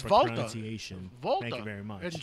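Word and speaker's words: Walter: Of course, it's Volta. Volta. Thank you very much. In German, you don't pronounce the W. It's a V.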